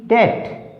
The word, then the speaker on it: debt: DOUBT डाउट, DEBT डेट, यहाँ पर क्या है, बी साइलेंट है।